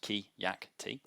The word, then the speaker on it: Keacte: It's pronounced Keacte.